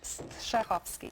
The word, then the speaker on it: Strahovski: I always say it's like sneezing, so you have to kind of get the first syllable out, like a clear your sneeze, throat. and the rest is easy.